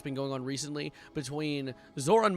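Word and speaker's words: Zohran: Pronounce Zoran's name right, bro? Zoran? Zoran? Can we say Zoran? I say Zoran. Zoran.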